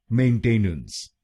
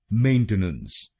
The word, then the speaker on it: maintenance: इसकी सही प्रोनाउंसिएशन है मेंटेनेंस। मेंटेनेंस। इस शब्द में 3 शब्दांश हैं। पहला शब्दांश है MAIN, दूसरा शब्दांश है TE और आखिरी शब्दांश है NANCE।